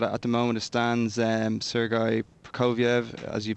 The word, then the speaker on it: Sergei Prokofiev: But at the moment, it stands Sergei Prokofiev, as you pronounced so well, is 9-4-5.